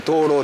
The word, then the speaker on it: 蟷螂: ます東路山ですカマキリって書いて灯ろって読むんですけど唯一